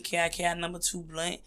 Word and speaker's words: KiKi2Blunt: My music is the same, KiKi2Blunt. I say it like that because people hear Kiki, they hear Keke, and I'm like, nah, baby, it's KiKi.